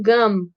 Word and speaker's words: gum: No gum, pessoal, prestem bem atenção na pronúncia. Como tem um M no final, vocês têm que fechar a boca. Então, gum, tem que fechar os lábios.